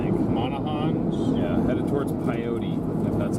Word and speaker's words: Pyote: Headed towards Pyote, if that's how you say it.